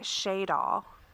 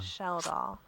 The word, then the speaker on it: Sheldall: Now, how would you have pronounced Sheldall? I think in my head, I'd like to preface this with that I pronounce everything wrong when it comes to a name. But I was saying Shaydall. Oh, there's an L in there. Yeah. Sheldall. Yeah. I've only just There's two driven L's, through.